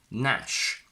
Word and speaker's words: gnash: For example, GN in initial position, where the G is completely silent. Gnome, gnaw, gnash. GN in final position, where the G is silent again.